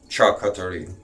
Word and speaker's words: charcuterie: And it's pronounced Mangalasita pig cuttery. Charcuterie.